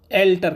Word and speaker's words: halter: तो दूसरे जो जोड़ी होते हैं वो रिड्यूस होते हैं, उन्हें एल्टर कहते हैं। ALTER नहीं होता, हेल्टर स्पेलिंग होती है, HALTER, हेल्टर होती है स्पेलिंग, हेल्टर के उसे एस साइलेंट को एल्टर कहते हैं।